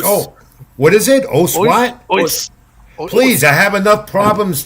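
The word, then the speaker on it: Osu: Ois. Please, I have enough problems trying to. I can't pronounce people's names right. That is a good point. A lot of Japanese martial arts practitioners, they say "os."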